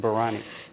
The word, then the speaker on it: biryani: food I just want one dish of chicken barani wow I'm so impressed with your pronunciation of Biryani and your bang on Hyderabad